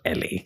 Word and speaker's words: ELE: I must confess my ignorance just because I didn't know L or E L E is actually pronounced LA.